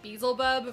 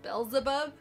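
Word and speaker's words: Beelzebub: just feel bad so i was calling this guy beazlebub for like the entire game before i realized it was actually pronounced bells above but to my defense when you're playing the game it is totally spelled like bezel bub so i can't feel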